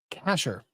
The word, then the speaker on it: cache: nuts Ren and I assume yes Billy's momzilla Casher pronounced cache means hidden now doesn't that describe slot